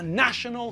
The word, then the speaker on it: national: G also don't forget it's the Hungarian nation but it's a national football team and we have international conferences I'll see you all